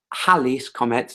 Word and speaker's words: Halley's Comet: So Halley's Comet was based, Halley's Comet, that's how it's pronounced, was based on observation, not observation of orbits.